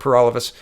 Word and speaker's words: Peralivas: My name's Peralivas. That rhymes with For All of Us, and I'm the People's Party candidate for the October 21st federal election.